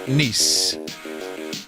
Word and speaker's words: Nice: It's pronounced Nice.